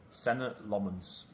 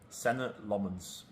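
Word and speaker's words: Senne Lammens: How would you pronounce your name? Senna Lmens.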